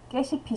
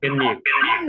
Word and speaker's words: 깻잎: 깻잎. 네, 맞습니다. 깻잎이에요, 깻잎. 자, 지금 깻잎이라고 쓰면 학생들 입장에서는 너무 당연히 깨십이라고 읽을 수밖에 없는 모양이잖아요. 깨십 뒤에 이가 오면 깨시피, 뒤에 을이 오면 깨시플 이렇게 되니까 당연히 학생들 입장에서는 너무